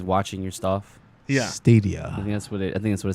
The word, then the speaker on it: Stadia: I'm interested How is in it pronounced? Stadia? Stadia. Yeah, it's Stadia.